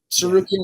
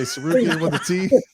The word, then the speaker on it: Tsarukyan: You think I'm worried about freaking Arman Tsarukyan with a silent T at the beginning of his name? I was going to say Tsarukyan with a T. Just Tsarukyan.